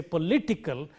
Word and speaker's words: political: It applies to all words of this, or even if it ends in ickly, political. When we say political, before ickle, it is li, and therefore we say political, and so on.